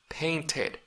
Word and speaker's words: painted: Paint, paint, paint, painted, painted. Al igual que cuando termina en la D, cuando termina en la T, usted también pronuncia al final ED.